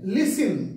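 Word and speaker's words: listen: দেখাতে পারো প্রথমে আছে লিসেন এল আই এস টি ই এন লিসেন টি এর উচ্চারণ হয় না টি এর উচ্চারণ সাইলেন্ট থাকে তাহলে লিসেন মানে হচ্ছে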